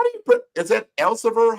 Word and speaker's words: Elsevier: How do you is that Elsevier? How do you pronounce that? Elsevier. Elsevier.